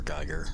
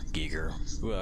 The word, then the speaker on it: Giger: and of course first h.r geiger giger either way i've heard it pronounced both uh and you